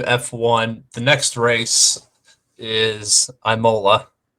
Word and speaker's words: Imola: going back to F1 the next race is Imola it's Imola Imola no Mason's sitting there agreeing with me